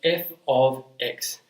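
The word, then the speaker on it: f(x): the right hand side this is pronounced f of X and it basically just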